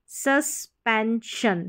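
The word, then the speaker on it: suspension: जैसे compulsion एक्सटेंशन एक्सटेंशन एक्सपेंशन एक्सपेंशन mention mention सस्पेंशन सस्पेंशन तो यही तरीका है सारी की सारी स्पेलिंग्स बड़ी भी है जैसे हम प्रोनाउंस कर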